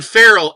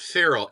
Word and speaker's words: Farrell: And I mean Farrell, F-A-R-R-E-L, not Farrell, F-E-R-A-L.